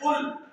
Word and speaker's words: قل: وہ اللہ ایک ہے، اور جب آپ نے تلفظ کا لحاظ نہیں کیا اور قل کہہ دیا تو معاذ اللہ اس کا مطلب یہ بنا آپ تناول فرمائیے کہ وہ اللہ ایک ہے۔ لانے جلی کی غلطی